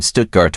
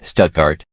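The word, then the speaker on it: Stuttgart: Paris St Germain and stutgart or should I say stuckart apparently I got absolutely roasted for my pronunciation my apologies I took Spanish as my second language and I barely even speak a word of that anymore so expecting me to perfectly pronounce German words is probably giving me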